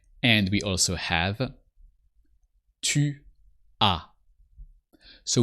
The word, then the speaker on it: tu as: And we also have tu as. So with tu, you always add a silent S.